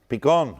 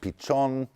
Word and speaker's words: Pichon: me, I've tried, but I don't exactly know how that was pronounced in medieval Castilian. But anyone know how that would be pronounced in Spanish today? P-I-C-H-O-N. Is it Pichon? Is it Pichon? Huh? I think it's Pichon. We'll go with Pichon because it's got a